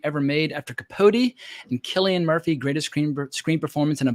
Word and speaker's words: Cillian Murphy: They pronounce it Cillian Murphy.